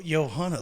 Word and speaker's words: Johanna: Joan or johanah oh Johanna like in at Bob Bobby Mackey's mus it's spelled j o h a nna pronounce it how you will but I'm going to call her Johanna joh Johanna Barnes a